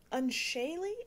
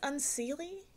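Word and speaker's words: Unseelie: Unshaley, I think is how you say it. It says unseely, but I've been told that's wrong and that it's unshaley.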